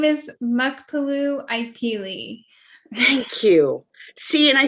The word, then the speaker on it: Muckpaloo Ipee: goodness please help me okay my name is mukpalu ikeli thank you see and i totally got and